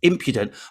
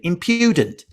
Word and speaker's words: impudent: i had to learn it was impudent stress on the first syllable it could have been impudent it wasn't it's impudent i had to teach